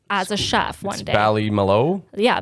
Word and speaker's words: Ballymaloe: Ballymaloe? Yeah, Ballymaloe. Ballymaloe You Cookeries.